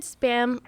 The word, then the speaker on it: SBÄM: How do you pronounce it? Yeah. It's SBÄM Festival.